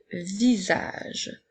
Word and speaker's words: visage: je continue avec le visage le secret ensuite nous avons vu encore une fois la lettre S fait le son puisque elle est entourée de voyelles et le sont juste